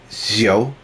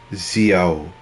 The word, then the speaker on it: Xiao: supposed to be pronounced, which is something like Xiao. It's almost sort of very S sounding, and you really pronounce the I, if I remember correctly. So it's Xiao.